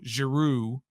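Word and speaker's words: Giroux: a fat rebound and giro claude giro giroud i think is the proper pronunciation uh made a great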